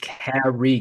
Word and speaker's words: Kari: Man, Kari, Ca- pronounced Kari. Get it right.